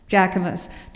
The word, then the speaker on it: Jacquemus: Jacquemus.